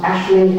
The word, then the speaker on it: aisling: These are pronounced ashling and she's because these are Irish words, they're not English words.